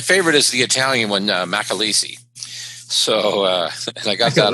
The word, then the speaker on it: McAleese: So it's McAleese. And the reason why it's spelled MCA, but the reason why it's pronounced Mac is because the C is followed by a vowel.